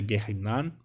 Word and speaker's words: Gehinnom: ser passar pelo Gehinnom, alguns falam Gehinnom, né? Mas a pronúncia correta é Gehinnom, onde não é um inferno, tá?